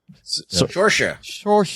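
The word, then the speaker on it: Saoirse: Cersei? No. Sorsha. Yes. It's said in a way that's not how it's not spelled, but she's a really good actress.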